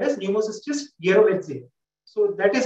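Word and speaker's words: jirovecii: Human-specific species was thus called as Pneumocystis yerovetzi. So that is how it is spelled, yerovetzi.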